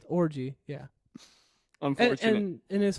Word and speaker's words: Orji: pronounced Orgy.